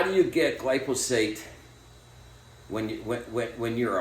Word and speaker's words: glyphosate: the time because I like to say glyat and that obviously that's not the way you pronounce it I know I just